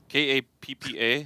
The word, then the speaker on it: Kappa: REEBOK K A P P A. HOW DO YOU PRONOUNCE THAT?